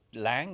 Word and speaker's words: Laing: I think it's Lang, or it's spelled Laing.